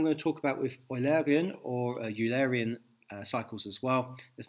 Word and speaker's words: Eulerian: I try and pronounce it the British way, Eulerian rather than Eulerian, which is a more German way of saying the same thing.